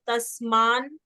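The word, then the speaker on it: तस्मान्: यहाँ पे देखिए, ये दो ना है एक साथ, ऊपर आधा ना, नीचे पूरा ना, तो तस्मान। यहाँ संस्कृत में रूल है कि आधा ना पहले अक्षर में जाता है, तो तस्मान हो गया, फिर नार हा, समझ रहे हैं? तस्मान तस्मान नार हा, फिर वयम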